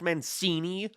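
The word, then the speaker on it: Mancini: wait I'm just editing this and realized it's pronounced manini you lied to me YouTube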